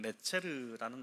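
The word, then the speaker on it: נצר: 이렇게 하는데이 한 가지는 어 히브리어로 보면 네체르라는 단어입니다. 한 가지 가지 네체르라는 단어예요. 그이 어 나사렛과 발음이 유사합니다.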